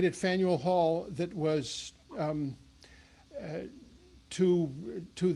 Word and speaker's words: Faneuil: away but um that it's faneuil hall spaniel and i'll tell you that